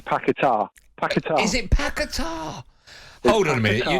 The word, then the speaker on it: Paquetá: his shirt it's got the little tick upwards on the a which says the emphasis is on the a so it's not only